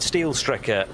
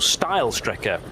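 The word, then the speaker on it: Steilstrecke: green no not quite steel Striker is now still Striker being that effectively the straight line route through the karachiola carousel so uh or style Striker would be the correct pronunciation where the track used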